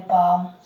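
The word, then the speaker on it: palm: जैसे देखो पी एल एम, पाम, एम के पहले एल साइलेंट रहा कि नहीं?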